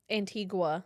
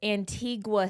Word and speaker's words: Antigua: Well, I found out there's an Antigua city and an Antigua country. They're spelled the same. Oh, okay. And so depending on where you are, it's said differently.